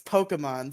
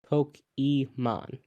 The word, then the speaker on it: Pokemon: Pokemon exactly also it's Pokemon stop stop infecting my brain you mean poke Emon no it's Pokemon poke Emon that's not how you pronounce this Pokemon Pokemon nope